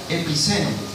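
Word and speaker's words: ἐπιμένω: Bueno, perseverar viene de una palabra en griego que se pronuncia epiceno.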